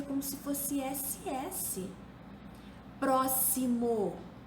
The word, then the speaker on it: próximo: como se fosse esquece próximo se escreve com x mas se pronuncia como se fosse SS exato se escreve com